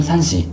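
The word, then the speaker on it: SUNSEA: 선시, 일본 발음으로는 산시, 타다요시 요네야마, 슈코 요네야마 부부가 2008년 설립한 일본 도메스틱 브랜드입니다.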